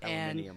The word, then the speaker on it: aluminium: Aluminium. And yeah, that's it. Just say it like the Brits.